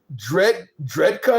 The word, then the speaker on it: Drejka: By the way, for anybody who's wondering about this story, Michael Dredka is his name. The last name is spelled Drejka.